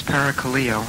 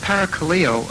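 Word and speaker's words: παρακαλέω: the Greek language is paracalillo I probably won't say that when I'm serving the Greek congregation but I think that's the way you pronounce that the word para Kaleo uh has a sense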